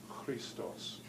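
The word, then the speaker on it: Χριστός: CH it's not pronounced that's K but it's pronounced as Christo's Christo's why that Greek letter Chi written with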